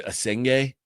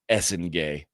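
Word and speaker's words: Essengue: I thought there were some prizes, namely Igor Demin going 8th, Cedric Howard going 11, Noah I thought it was Esenge. It's Essengay.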